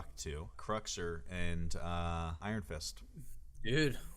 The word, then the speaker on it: Cruxer: so how was he so bad at manipulating cruxer I thought it was really cool scene and